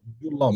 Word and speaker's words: Julob: Julob. yeah, How does it pronounce?